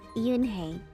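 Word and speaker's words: Unhei: turned to Joey she nodded slowly yes it pronounced Yoon hey and it means Grace Master Kim added Joey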